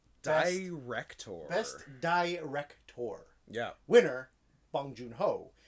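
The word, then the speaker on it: Bong Joon-ho: best director yeah winner bong joon ho although apparently it's pronounced pong junho because the yeah because of the way korean english yeah because because spike lee kept saying pong and they asked i'm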